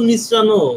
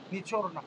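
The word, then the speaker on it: نچڑنا: আছে তো যে লেবু নিচ্রানো এটা তো বাংলা বাংলা শব্দ লেবু নিচড়ায়ে রস বাইর করো এটা হচ্ছে যখন আপনার যখন আপনার যখন তাকালেন হবে তখন আপনার উচ্চারণটা হবে কি নিচরনা এটা লিখে রাখেন লিখে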